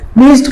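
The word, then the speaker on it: pledged: रखना होगा यहां पर डी जो है साइलेंट है आप कहते हैं प्लीज्ड प्लीज्ड का मतलब होता है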